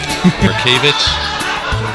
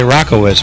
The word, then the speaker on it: Mroczkiewicz: Well, I like to say Rockowitz, but everybody tells me that's wrong.